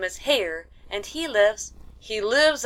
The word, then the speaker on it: Hare: happy his name is hare he pronounced it so as to rhyme with Mayor I love my love